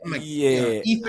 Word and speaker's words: Ethlete: It's athlete. So, it's like So, like athlete, but with the E. Yep. Eth see, man, I'm like I all damn like athlete.